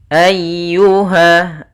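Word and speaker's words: أَيُّهَا: Kemudian ayyuha. Nah, di sini ada huruf ya yang berharokat tasydid. Ya termasuk huruf lembut dan dia harus ditekan karena dia tasydid.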